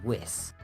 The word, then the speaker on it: WIS: Well, that is what it is, though. WIS is whiz.